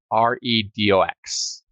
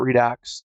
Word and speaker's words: Redox: That's spelled REDOX. So Redo, not Redux, OS is it's the most Linux-like out there of these, as it is a Unix-like OS, written in Rust.